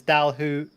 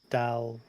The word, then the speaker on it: Dalhousie: Who not woo? So it's Dalhousie. Dalhousie.